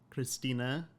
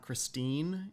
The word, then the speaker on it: Christina: I call her Christina because her name is in fact German and it's pronounced with an sound, Christina. It's like you say the E at the end, so it's not Christine in German, but like I Americanized it, made it English, and did Christina, even though it's spelled with an E.